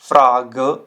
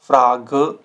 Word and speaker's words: Frage: द एंड, ठीक है, तो इसमें थोड़ा सा एंड में आपको अ साउंड ऐड करना होता है, अ। zum Beispiel Frage, Frage, leise, leise, Lampe, Lampe।